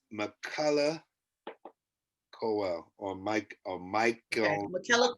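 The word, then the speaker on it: Michaela Coel: i couldn't hear you the first time it's mccullah cowell or mike or michael mckellar well she is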